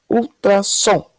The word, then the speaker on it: ultrassom: é uma vamos lá ultrassom ultra som qual que ficou mais forte a última né som Então já tiramos proparoxítona